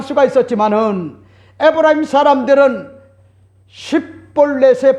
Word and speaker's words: 쉽볼렛: 길르앗의 사람들은 싯볼렛이라고 하는 것 같은 발음을 정확하게 할 수가 있었지만은 에브라임 사람들은 싯볼렛의 발음은 안 되고 십볼넷으로 발음을 하여 하는과 같은 차이를 발견하게 되어 조언을 했던 겁니다.